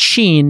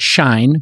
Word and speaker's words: Shein: know it's very interesting their name is spelled s-h-e-i-n uh and so it's Sheen not shine but it is easy to mix up yeah Sheen like Charlie yes exactly we love you